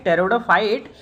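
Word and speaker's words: pteridophyte: नाम क्या है ना पी यहां पे साइलेंट रहता है तो रूटलेस टेररडोफाइट क्या नाम लिखा हुआ है यहां पे रूटलेस टेरिडोफाइट का बोटेनिकल नाम यानी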